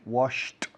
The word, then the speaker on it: washed: Work, worked, walk, walked, talk, talked, wash, washed, pick, picked, park, parked, kick, una patada, kicked, finish, finished, like, liked, watch, watched.